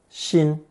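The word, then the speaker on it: 薪: the lower left corner the pronunciation is the same as the original first tone Shin the character for firewood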